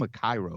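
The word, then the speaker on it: Akiro: I love the way that Mako's character at Cairo they call him a Cairo, which I always, I would pronounce it a Kiro.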